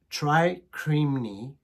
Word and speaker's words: TRYCRMNY: It's pronounced Tricremny, but it's spelled TRYCRMNY.